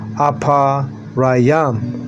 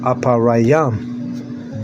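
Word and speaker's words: אפרים: And you say apa raayam. Aparayam. That's how you say Ephraim.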